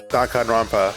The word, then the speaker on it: Danganronpa: right time to play some Donan RPA trivia Donan RPA H that's how you pronounce it the biggest most awful most tragic